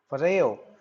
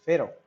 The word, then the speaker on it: Pharaoh: AR o ra H for a Oh in American accent it is called for a Oh in British it is called Pharaoh so we would be pronouncing it as Pharaoh so the boy King